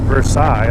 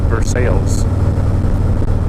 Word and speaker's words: Versailles: central Kentucky destination for my first trip is Versailles Kentucky and now it's not pronounced Versailles although it's spelled the same way it goes by Versailles has pretty cool little town it was like